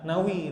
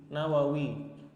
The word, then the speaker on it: Nawawi: itulah mudahnya jadi Nawa maka nisbahnya bukan Nawi tapi nangis bacanya jadi Nawawi begitu karena ujungnya Wow menawarkan wow maka ketika dinisbahkan ditambah O di depannya jadi Nawawi Hai Nah emang manawi